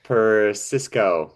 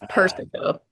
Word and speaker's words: Persico: Today we have Pisco, right? Did Did I pronounce that right? No, but it's okay. Nobody ever does. It's Perico.